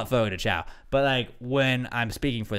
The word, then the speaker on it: Fogo de Chão: It's Fogo de Chão, but it's officially pronounced Fogo de Chão.